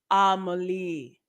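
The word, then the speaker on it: Amélie: film rom-com heavier on the romantic elements though pronounced amalie you know me i'm like amelia melly a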